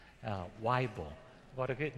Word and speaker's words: Weible: And Reverend Joel Weible, pronounced like a Bible, Weible, what a good name.